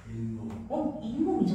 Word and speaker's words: 잇몸: 잇몸이죠. 나도 모르게 니은을 첨가해서 발음하고 있잖아요.